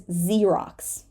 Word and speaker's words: Xerox: this word it is Xerox Xerox this beginning X this x at the beginning of the word Xerox is z Xerox and xenophobe xenophobe